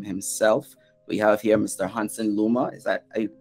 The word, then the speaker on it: Honson Luma: out to him himself we have here mr hansen luma is that i correctly pronounced the name yeah right and we'll be